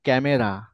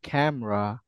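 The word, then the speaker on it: camera: তাহলে আপনারা বুঝে গেছেন আমরা বাংলাদেশে বলি হচ্ছে ক্যামেরা আমরা কি বলি ক্যামেরা বাট এটা হবে হচ্ছে ক্যামেরা বলেন ক্যামেরা ক্যামেরা গুড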